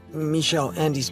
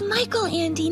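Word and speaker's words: Michael Ende: in reading some of Michelle Andy's books sound good first off it's Michael Andy not meich you really haven't read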